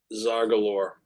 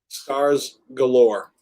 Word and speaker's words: Scars Galore: right who else uh Zar Galore or is it scar scar scars Galore I I knew I was saying that wrong I knew it scars Galore um oh I missed